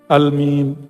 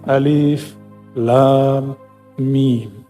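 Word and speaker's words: الم: Kalau kita pakai ilmu tajwid kan bacanya almim. Benar enggak? Alif lam mim. Bacanya apa? Almim. Tapi enggak boleh dibaca begitu. Dibacanya mesti alif lam mim.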